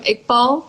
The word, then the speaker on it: Iqbal: pretty common like surname iqbal is how we pronounce it okay and then my